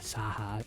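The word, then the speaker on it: Scáthach: says ska says a saha or something like that. Just the way that that's spelled. You don't say the c sound, you say a h sound. That's just how Celtic is.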